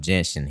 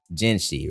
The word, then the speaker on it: Jinhsi: showcased a gameplay of Jensen here I truly do believe that they need to show a showcase for Jensen whenever or ji I'm sorry I've been saying it wrong jensi right they need to show